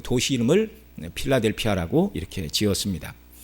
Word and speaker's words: 필라델피아: 이 빌라델비아, 성경에서는 우리말에서는 빌라델비아 그러지만 이제 발음을 하면 이제 필라델피아 뭐 이렇게 얘기를 해야 됩니다.